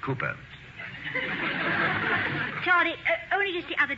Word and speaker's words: Cowper: Hall William Cowper Cooper down hmm it is spelled Cowper but pronounced Cooper Charlie only just the